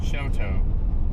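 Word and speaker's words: Chouteau: I don't know how to say that, but uh it's coming towards like Chotow. Chowo Shoto. Dude, it's a fun uh trying to pronounce these Oklahoma town names is always a fun activity.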